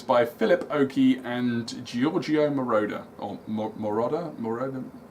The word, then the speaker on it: Moroder: together electric dreams by Philip Oakey and Giorgio Moroder on Mirada moreover it's not Marauder they go right question for 10 my mother-in-law